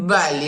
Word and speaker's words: belli: Più belli, that will be open. It sounds like belli.